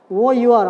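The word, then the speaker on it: hour: Next one, I will meet you in see here, dear children, we have to see here H O U R, our. So here H is silent.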